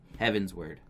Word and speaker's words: Heavensward: mughals meatlovers yeah yeah they haven't sword Hawaiian heavensward heavens work hard it's heavens ward it's it